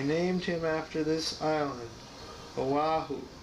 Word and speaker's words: Oahu: I named him after this island, Oahu, pronounced Oahi.